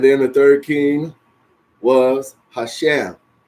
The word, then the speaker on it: Husham: the Third King was Hashem or husham so h u s h m okay and